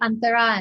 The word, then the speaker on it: Antara: I say Antara and Tara, but Okay.